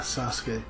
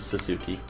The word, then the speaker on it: Sasuke: with the S-U-K-E, and I realized that you don't actually, like, pronounce the U in a lot of those. Yeah, like, because, like, Yusuke's the same.